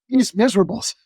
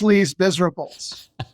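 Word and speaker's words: Les Misérables: that U like a lot of Americans they mispronounce the title of the book oh these Miserables themselves Le Miserables yeah you know we we we suffer what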